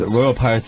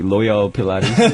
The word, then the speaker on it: Royal Pirates: Royal Pirates is like too difficult for most Koreans to pronounce. Yeah, they always say like Loyal Pilates.